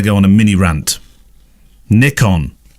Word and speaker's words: Nikon: on a mini rant Nick on as in Nick on not Nikon we aren't American and I'm not sure why this American pronunciation has crept in for decades we've said Nick on I believe that the Japanese permanent pronounced ni is knee knee con don't dumb down our